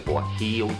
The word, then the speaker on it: guajillo: It's referred to as the guajillo chili, and that is spelled G-U-A-J-I-L-L-O.